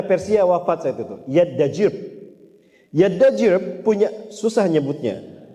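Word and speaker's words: Yazdajird: Yaddajirb punya, susah nyebutnya, Yaddajirb, membacanya begitu, namanya begitu.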